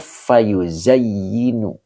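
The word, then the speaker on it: فيزين: Nah ini dibacanya fayuzayyinu ya. Fayuzayyinu begitu ya.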